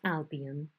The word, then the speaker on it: Albion: And you pronounce Albion like that, all right?